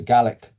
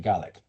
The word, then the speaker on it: Gaelic: caught up with the Gaelic language? And so how do you say net zero in Gaelic? And notice I don't say Gaelic. Gaelic is Irish, Gaelic is Scottish.